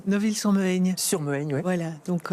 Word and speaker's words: Neuville-sur-Mehaigne: J'arrive jamais à bien prononcer. Neuville-sur-Mehaigne.